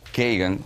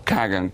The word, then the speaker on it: Kagan: un historiador llamado Robert kean o kagan como quieran pronunciarlo k a g a n que es el esposo